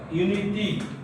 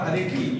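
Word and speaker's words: unity: ಬರ್ತಾ ಇದೆ ಕಾನ್ಸವೆಂಟ್ sound a ಯುನಿಟಿ ನಾಟ್ ಅನಿಟಿ ಯೂನಿಟಿ ನಾಟ್ ಅನಿಟಿ ಸೋ ದಯವಿಟ್ಟು ನೆನಪಿಟ್ಟಕೊಳ್ಳಿ ನಾಮ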